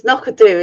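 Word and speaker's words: Knockando: It's knockadoo, isn't it? Nakadu, Nakadu, or is it? She did send me it, and I sent her a correct pronunciation of it, and it's more of knockadoo, I think. Knockadoo. Knockadoo, yeah. Not Nakadoo. I need to look these things up.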